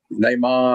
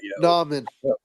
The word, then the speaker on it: Nauman: And like the other people there, like E-Man and or not E-Man, but like Namon, and like I know it wasn't Namon, so people like that, Nauman. Nauman. Okay. Well, sorry. No, you're good. That's just how you say it.